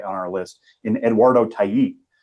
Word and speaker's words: Tait: and I was like, "So this Eduardo tape guy looks really good." And they were just like, "That's that's not how you say it." And I was like, "Thank you. I will never say it that way again." Uh Eduardo Tait.